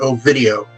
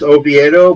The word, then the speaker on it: Oviedo: alone but i've seen i've heard quite a few people call it oh video because if you call them there because if you switch the e and the d it becomes a video yeah um yeah if if you're ever up in oh and by the way obito and i know it's oviedo but until otherwise it's